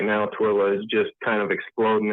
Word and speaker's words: Tooele: Is it Tuelle? Oh, you're good. Tooele, Utah. Oh, okay. Yeah, I was way off.